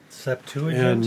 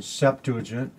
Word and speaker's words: Septuagint: This is the Latin term, Septuagint. Did I say it right? Septuagint? My old New Testament professor said you were supposed to pronounce it Septuagint. Oh. But nobody does.